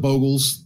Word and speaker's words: Bogle: Playing the Bogles. Is it the Boggles or the Bogles? I can never remember. I believe Bogle is the actual pronunciation, but I have always gotten it in my head as Boggle.